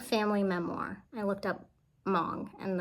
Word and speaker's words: Hmong: I looked up Hmong, and the H is silent, pretty sure.